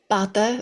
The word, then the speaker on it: bata: So the difference between bata, which is a stick, and a bata is a boat. So just if the accent is on the A there, it's stretching it.